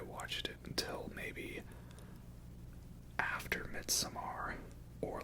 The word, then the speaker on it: Midsommar: And yes, that brings us now to Midsommar, because it's just Midsommar, but because it's spelled weird, I have to say it like, oh, Midsommar, all fancy like that, right?